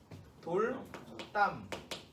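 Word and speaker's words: 돌담: 두 단어가 합할 때 돌, 담 합치면 어떻게 돼? 돌, 땀.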